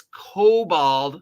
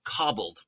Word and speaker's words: Kobold: D by the way it's Cobalt not cobbled I know I sometimes mispronounce it but it's Cobalt as in named after the cute little half dog half dragon half lizard half rat creature of d d Fame okay good news exciting